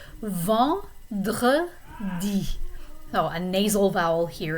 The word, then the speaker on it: vendredi: And Friday is vendredi. So there you have a nice R sound in the middle. Vendredi.